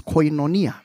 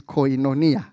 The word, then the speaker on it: koinonia: The Greek word used there is koinonia. Koinonia. I don't know how they pronounce it.